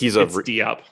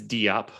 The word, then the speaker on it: Diop: It is, but it's Diop. What? It's Diop.